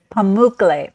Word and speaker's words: Pamukkale: And the I'm not going to pronounce it right. The how do you say the Pamuk- pools? Pamukkale.